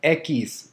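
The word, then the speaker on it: equis: The letter X, it's called ekis. It's pronounced ekis, ekis.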